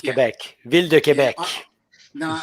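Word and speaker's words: Québec: Is that the proper way to pronounce it? Quebec? Quebec, yeah, exactly. In French, it's Quebec.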